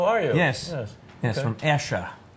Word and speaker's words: Esher: From Esher. Some people pronounce it Esher. Esher. Yes. Okay. You say Esher, I say Esher.